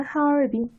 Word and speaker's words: 하얼빈: 하얼빈 이렇게 발음하고요.